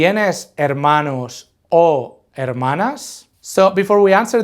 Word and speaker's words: hermano: is going to beo note the H is silent we just ignore it we say hermano can you say it